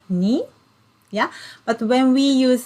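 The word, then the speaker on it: 二: so you can see when we use the same character we pronounce it ni yeah but when we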